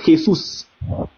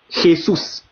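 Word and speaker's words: Jesús: Les Espagnols disent, les Espagnols aussi écrivent Jésus, mais eux ils le prononcent Jesus. Jesus.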